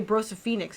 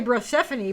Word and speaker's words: Brosephoenix: I guess you have to say Brosephoenix in this case. Because I was gonna say Brosephone, but that's not right. Brosephoenix is would be the right way you pronounce that.